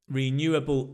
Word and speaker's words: renewable: Renewable energy. So, first word, surprise, renewable. Renewable. Notice the new, that's the stress, right?